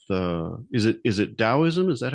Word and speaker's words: Daoism: I mean well some people say taoism but the modern opinion uh says uh ta yeah and the thing is about dowism the idea is to return to that zero.